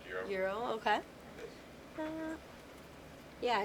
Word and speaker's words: gyro: Actually, I actually just found out that it's spelled gyro, but it actually is pronounced gyro. Euro, okay.